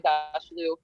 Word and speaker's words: Aghdashloo: I say Agdashlu, but I'm probably wrong.